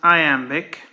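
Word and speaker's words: iambic: syllables as in Chinese that's pronounced I Amic it's weird that that I which was supposed to be a semic consonant in Latin turned out as a long I in English and then it ended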